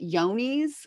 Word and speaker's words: Johne's: They can also, both species also get yonies, which is spelled with a J.